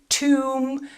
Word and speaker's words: tomb: So, for example, in the word bomb, climb, tomb, we don't say bomb, climb, tomb. The B is silent in all of these words.